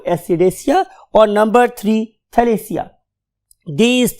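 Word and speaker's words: Ascidiacea: एसिडेसिया, एसिडेसिया। और अगर आप इसको देखें तो यहां पे भी थैली और उसके बाद एशिया, तो तीन ग्रुप्स हो गए। नंबर वन लार्वेसिया, नंबर टू एसिडेसिया, और नंबर थ्री थैलेसिया।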